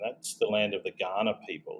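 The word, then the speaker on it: Kaurna: And that's the land of the Ghana people. It's it's written with a K. It's K A R N A. It's pronounced Ghana like the country in Africa. And Ghana nation has been uh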